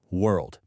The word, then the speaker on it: world: Okay, let's talk about what might be one of the hardest words in English. World. So many people accidentally say word because they drop that L sound.